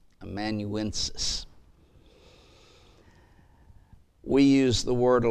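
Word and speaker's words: amanuensis: across as you study these matters and it's immanuensis do you want me to spell that one a m-a-n-u-e-n-s-i-s immanuensis we use the word a lot of times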